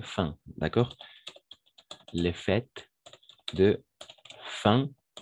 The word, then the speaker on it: fin: fêtes de fin pas fines fin d'année toujours en français les mots qui finissent en in on va prononcer un d'accord comme chez ma